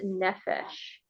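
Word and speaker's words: נפש: So we're going to look at the word soul tonight, and the word for soul is nephesh. Nefesh? Nephesh. Can you spell that?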